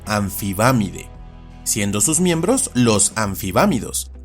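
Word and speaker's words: Amphibamidae: Y lo último interesante que hace la pH es que cuando está precedida por un am, la m se reemplaza con una n. Así esta familia se pronuncia y castellaniza como anfibámide, siendo sus miembros los anfibámidos.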